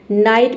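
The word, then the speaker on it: night: तो जी एच टी जी एच टी तीनों एक साथ हो तो केवल हम टी को पढ़ते हैं। जी एच साइलेंट रहता है। नाइट मींस होता है रात।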